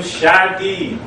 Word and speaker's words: Shadeed: I am Shadi. Say that five times fast. It is unofficially the most mispronounced name in the entire English language.